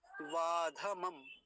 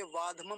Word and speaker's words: वाध मम: आएगा पाश मस् मद वाध मम वाध मम धक को यहां पूरा रखेंगे वादम नहीं बोलेंगे वाध मम ऐसा ये शब्द पूरा